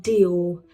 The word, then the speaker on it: Dior: Christian do. We can also say it do Christian Dior. Amaze. Amaze. H is silent here.